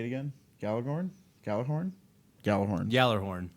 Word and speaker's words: Gjallarhorn: Yallerhorn. Yallarhorn. The G, you don't pronounce the G. Odin filled The J is a yah sound.